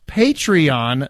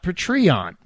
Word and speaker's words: Patreon: face beff it's pronounced patreon not patreon it's based on the word Patron as in customer yeah I have heard